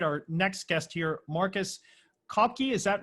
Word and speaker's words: Cauchi: you pronounce that right cow like milk and key like i i've had every variation that doesn't matter marcus kalki so welcome he's author